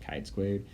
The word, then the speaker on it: chi-squared: Yes, it's pronounced chi-squared, test of association, where